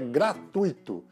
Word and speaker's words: gratuito: ou gratuito a maneira certa de pronunciar a palavra é gratuito então esta é uma palavra que é triste o nome pra casa pra quem for à pronúncia gratuito teria que haver um acento no i ea formação de um hiato não seja advogados em cinco diferentes mas não é isso que acontece é o que acontece é um ditongo